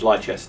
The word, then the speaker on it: Leicester: Yeah, but it's just as bad over here because we've got things like there's um Leicersha which is Lester which is Leicester but it's spelled Lchester.